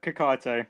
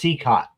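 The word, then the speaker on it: Cicotte: Oh, it's pronounced Seacott. Oh, Seacott.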